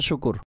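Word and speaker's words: شكر: শুকুর হবে কি হবে এর সঠিক উচ্চারণ কি শুকর কাফ হচ্ছে জজম বিশিষ্ট অর্থাৎ কাফের উপর কোন হরকত নেই শিনের উপর পেশ সিনের উপর পেশ আছে কাফের উপর জজম কোন হরকত নেই জবর না জের না পেশ ঠিক আছে র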